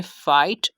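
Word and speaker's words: fight: कर रहा है तो हमने जी एच को साइलेंट कर दिया। सेकंड एग्जाम्पल है थाई, थर्ड एग्जाम्पल है फाइट, फोर्थ एग्जाम्पल है टाइट, फिफ्थ एग्जाम्पल है लाइट, सिक्स्थ एग्जाम्पल है ब्रॉट।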